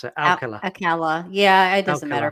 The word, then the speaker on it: Alcala: How do you pronounce it? Alcala.